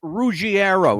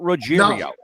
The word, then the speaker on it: Ruggiero: I also want people to know something because I've heard a lot of people mispronounce this young man's name. His name is Chris Ruggiero, not Ruggiero.